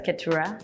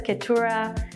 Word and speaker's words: Keturah: I introduce myself as Katura.